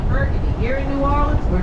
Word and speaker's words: Burgundy: Anyone who's normal, that's how you spell Burgundy. Here in New Orleans, we're not normal, and we mispronounce everything. That is Burgundy to us.